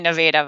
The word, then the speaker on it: Nevada: spelled like nevada that's confusing yeah which everyone pronounces nevada right well we all say noveda but that's from there so you went to